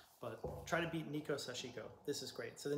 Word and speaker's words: sashiko: Well, sashiko is kind of the Japanese pronunciation, which I should be using, but I end up saying sashiko a lot.